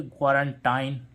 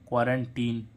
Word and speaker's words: quarantine: क्वारंटाइन, लेकिन क्या आ रहा है इसमें? क्वारंटीन।